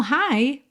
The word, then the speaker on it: high: High h i g h soa como high. Oi hi somente. Tá gh aqui completamente mudos.